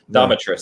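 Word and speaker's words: Dimitrescu: Domitress, that's the right way to say it. Like dominatrix, you know.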